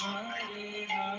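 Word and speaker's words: סמך: Samek pronounced Somek.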